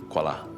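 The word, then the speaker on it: Quala: I suspect this Q U A I A is a misspelling of Q U A L A, which is pronounced as Kuala.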